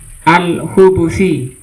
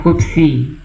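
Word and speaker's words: الخبث: Al-khabas bidammil ba, berarti kalau di dhammah ba-nya bacanya apa berarti? Al-hubusi, ya. Allahumma inni a'udzubika minal hubusi, bukan hubsi.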